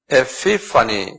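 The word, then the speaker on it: ἐπιφάνεια: 에피파니, 그래요. 한번 발음해보세요.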